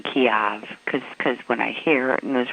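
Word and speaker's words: Kyiv: Apparently, it's supposed to be Kiev, according to President Zelensky, and all this time that we've been saying Kiev, we were saying it wrong.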